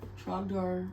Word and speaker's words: Trogdor: Trogdor rhymes with Gryffindor.